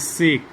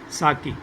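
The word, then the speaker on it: 酒: line description was there, the lady teacher was pronouncing it as sake, but actually it is sake.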